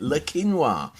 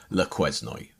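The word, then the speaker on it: Le Quesnoy: how you say it linoa so that's how I discovered that the uh the pronunciation is linoa but it looks like angle verion lazno I'd love to know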